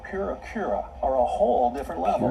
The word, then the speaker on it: Purikura: Do they have Purikura? I don't want to be that person who's like correcting pronunciation, but Purikura. Purikura is like print club.